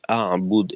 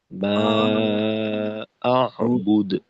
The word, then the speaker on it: أعبد: ولا أنتم عابدون ما أعبد ولا ولا أنتم عابدون كما أعبد أعبد হামজা কারো কারো ক্ষেত্রে শিথিল হয়ে যাচ্ছে, আবুদ এই উচ্চারণটা। হামজা আর একটু শক্ত করব, মা আবুদ, মা আবুদ।